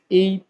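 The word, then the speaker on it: へ: সাথে এ পার্টিকেল বসাতে হবে। খেয়াল করেন এই বর্ণটা আমরা যখন বর্ণ হিসেবে পড়েছি এটার উচ্চারণ ছিল হে। যখন এটা পার্টিকেল হিসেবে বসবে তখন এটার উচ্চারণ হবে এ।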